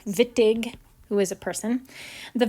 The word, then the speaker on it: Wittig: called the vitige reactions it's pronounced with a v even though it's spelled with a w vittig who is a person